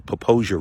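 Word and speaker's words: Popo Agie: like that house across the Popo Aggie or Poposia River as it's called by the locals. And it's more proper pronunciation cuz it is such a beautiful area.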